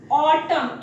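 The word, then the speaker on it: autumn: जब एन के साथ एन लास्ट में आता है, then N is silent at that time for like ऑटम, A-U-T-U-M-N, ऑटम।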